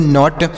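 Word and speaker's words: knot: की मात्रा, टी से टो तो इसे पढ़ेंगे नॉट, के एन ओ टी नॉट पढ़ेंगे।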